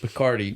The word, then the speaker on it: Picardy: They said Picardy, which I love that as a word. Like rhymes with Bacardi.